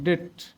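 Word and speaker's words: debt: যেখানে বি আছে এই ই ভাওয়েল এইজন্য এই বির উচ্চারণ হয় না। ডেট ইউ আছে এইজন্য বির উচ্চারণ হয় না।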